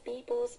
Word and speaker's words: people's: The written passage in the lecture discuss about how advertising influences people's behavior. When you say people's, you got to put S on that, pronounce it as a Z.